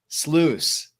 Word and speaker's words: Sluys: do you say that well if you think about like a super sleuth yes but it's loose sluice okay man i was